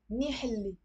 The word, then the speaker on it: منيح اللي: Okay, so thank God, or okay, luckily, منيح اللي, luckily, okay, منيح يلي, but pronounce it as منيح اللي.